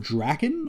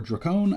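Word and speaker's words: Drakkon: comic this is uh lord drakken or dracone i've heard it pronounced both ways i believe it's draken uh who is an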